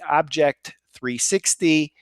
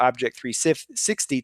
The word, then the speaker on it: OBJEK 360: And then rounding up the nominees for the MSP of the Year, Alexander Dabaka, his company Object 360. I'm giving you the American pronunciation, but it's actually spelled OBJEK 360.